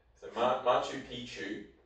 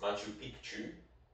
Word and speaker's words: Machu Picchu: Machu Pichu means old penis. Machu Picchu means old mountain.